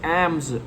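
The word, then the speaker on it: alms: object मांगो और receiving एल्म्स ए एल एम एस एम्स L silent है एम्स क्या होता है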